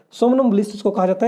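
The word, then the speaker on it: somnambulist: सोमनम्बुलिस्ट या सामनम्बुलिस्ट बोलते हैं उसको, इसको सोमनम या सामनम प्रोनाउंसिएशन कर सकते हैं आप। सामनम्बुलिस्ट अकॉर्डिंग टू आई थिंक मी ये राइट प्रोनाउंसिएशन है इसकी।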